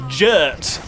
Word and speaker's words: JRRT: it and then t which he specified was to be pronounced as if it rhymes with dirt so his nickname was jert for jrrt that's weird